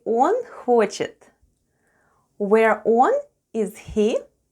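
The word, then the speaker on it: он: a russian for he the first sound is o and it's stressed and it's pronounced as o and then we have sound n and all together is one which is russian for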